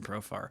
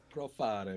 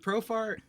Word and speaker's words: Profar: Profare, man. Profare. That's how I always say his name. I don't know why I add that to it. He's from Curacao, man. He's not from Italy. I don't know why I do that. I still don't know why I do that. I know how to pronounce his name.